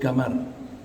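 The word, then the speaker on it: قمر: Orang Saudi kalau membaca qaf di luar Quran, mereka bacanya ga. Qamar, bulan, itu disebut gamar. Orang yang namanya qamar disebut dipanggilnya gamar.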